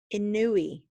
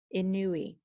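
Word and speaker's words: Inouye: to serve in Congress remember we had trouble pronouncing his name Daniel ken in new e in new e alright and you also had to go to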